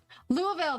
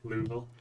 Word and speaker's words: Louisville: My ruling on cities and states and locations is the people who live there are the ones who get to pick the pronunciation for it. Louisville, that's what it was.